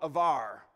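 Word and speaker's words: עבר: It's the word in Hebrew called avar. A B in Hebrew is a V pronounced, so avar.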